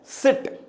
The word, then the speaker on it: seat: जैसे एक वर्ड मैं लिख रहा हूं, देखिए यहां पे लिख रहा हूं SIT और SEAT। देखिए यहां पे ये सिट है और यहां पे ये सीट है।